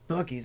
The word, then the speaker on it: Buc-ee's: Buc-ee's money.